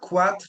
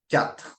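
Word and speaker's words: quatre: three then we've got cat cat Okay so cat is for four make sure when you pronounce cat to not pronounce itat okay it's not a qu sound it's so not quat but cat next is s s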